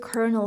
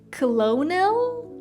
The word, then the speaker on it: colonel: It's like this word kernel, for example. If I just look at how this word is written, I want to say colonel, colonel, something like that, but in reality, the pronunciation is colonel.